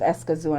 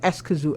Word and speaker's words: Escazú: up, and I'm like, because it's Spanish. It's Spanish. So because I think it's Escazú, because the A is never as sharp as like and there's ours. an accent on the U.